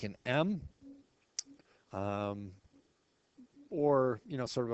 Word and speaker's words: mu: sort of like an m um or you know sort of a fancy lowercase U with a extra little hook there and again it's pronounced mu like m u like music mu and standard deviation of